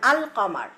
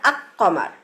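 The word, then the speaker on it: القمر: আর যে লেটারগুলা উচ্চারণ হচ্ছে যে লেটারগুলা উচ্চারণ করার সময় আলটা লামটা উচ্চারণ করতেছে তাদেরকে বলা হয় হুরফ কামারিয়া। যেমন আল কমার। আমরা কিন্তু বলি না আকমার।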